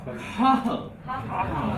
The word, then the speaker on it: Cathal: Cathal. Because the TH is like just an H.